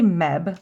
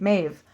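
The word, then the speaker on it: Medb: a z mates okay I always say Meb Queen Meb is that right mave it's not M okay like the other one Biv so the bab that was Bab is Biv and Meb is mave man and that's Irish mave Queen mave melini all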